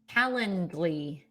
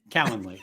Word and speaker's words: Calendly: You got to get the D in there. You got to get the D. Hard D. Kendly. Yeah. Right. Is that right? Kalandley.